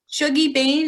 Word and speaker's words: Shuggie Bain: And how do you spell it? The one I just had, Yeah. Shuggie Bain, is Shuggie, Bain, Bain.